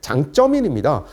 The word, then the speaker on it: 장쩌민: 그 당시에는 이제 강택민이라고 중국식 발음은 장쩌민입니다.